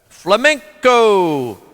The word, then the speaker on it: flamenco: Flamenco. Spanish pronunciation, flamenco, is an art form based on